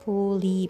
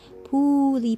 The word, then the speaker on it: poooli: you can check out pully print I think you should pronounce it as ply print because it has three O's now let's move on